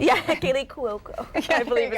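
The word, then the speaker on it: Kaley Cuoco: I'm glad you said her name because I can't pronounce it. Yeah, Kaylee Cuoco.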